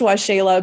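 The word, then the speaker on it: Waxela: which is always the tricky part um it's pronounced washayla but it's w-a-x-e-l-a-s-a-n-a-n-d-a dot com forward slash aoa5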